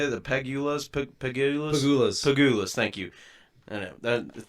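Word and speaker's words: Pegulas: Pagulas.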